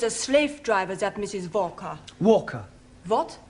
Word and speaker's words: Walker: Walker is keeping me busy. Anna do this, Anna do that. She is a slave driver, that Mrs. Walker. Walker. What? W is pronounced W. Your employer's name is Walker.